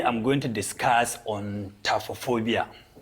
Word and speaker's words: taphophobia: Today I'm going to discuss on taphophobia. Taphophobia is being pronounced as taphophobia. That means PHO is being pronounced as PH is F, so the pronunciation is taphophobia.